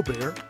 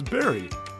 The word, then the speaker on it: Barry: It's not pronounced a bear. My name's Barry.